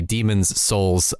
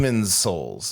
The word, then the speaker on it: Demon's Souls: I feel like the thing that is catching you the most with this name, AJ, is that you keep pronouncing the possessive S too much.